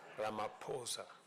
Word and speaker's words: Ramaphosa: He just explained to me that uh the correct pronunciation is not what everybody else has been saying. It is Ramaposa.